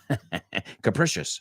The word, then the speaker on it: capricious: Capricious. Se pronuncia la C como CH, SH.